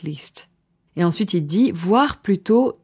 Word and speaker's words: voire: Et ensuite, il dit voire plutôt 3 à 4 par jour. Alors attention ici, voir, ça se prononce comme le verbe voir, to see, mais ça s'écrit différemment.